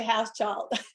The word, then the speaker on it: Hauschild: I say house child.